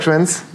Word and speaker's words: Schoenhentz: Bonjour Jacques Schwenz. Bonjour. Merci d'être sur le plateau. Je prononce bien ? Très bien, parfaitement.